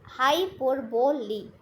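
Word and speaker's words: hyperbole: in language in American एंब्राइटिस हाइपरबॉल इस pronounced हाय पर leave तो इसे आप यहां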